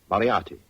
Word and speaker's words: Moriarty: I'm afraid I'll have to begin calling it the way it looks. M-O-R-I-A-R-T-Y. Moriarty. Moriarty.